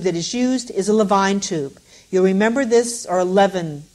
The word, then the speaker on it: Levine: is used is a Levine tube. You'll remember this, or 11, depends on the part of country where you learned how to say this word. I say Levine tube.